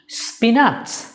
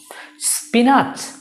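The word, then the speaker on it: spinach: Well আমি বলে দিচ্ছি এই শব্দের সঠিক উচ্চারণ স্পিনাচ এবং স্পিনাক দুটোর একটিও সঠিক নয়। তাহলে এটার সঠিক উচ্চারণ কি? What is the correct pronunciation? So the correct pronunciation is স্পিনিচ, স্পিনিচ, স্পিনিচ। দেখো তোমরা এখানে এন এর পরে কিন্তু আই নেই, কিন্তু তারপরেও তোমাকে উচ্চারণ করতে হবে।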